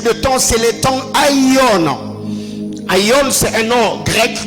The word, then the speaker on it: Aion: le troisième type de temps, c'est le temps Aion. Aion, c'est un nom grec qui s'écrit comme A-I-O-N, O apostrophe.